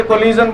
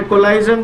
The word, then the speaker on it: collision: कुछ लोग इसे कोलिजन बोलते हैं, कुछ लोग इसे कोलाइजन बोलते हैं, जिसको जैसा अच्छा लगे वो बोले, सबका अपना अपना प्रोनाउंसिएशन है, राइट।